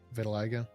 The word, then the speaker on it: vitiligo: Vitiligo.